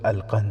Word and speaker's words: القند: نام بھی لکھا ہے۔ نام القنص تھا، جس کا تلفظ القند ہے۔ وہ مصری مسلمان تھا،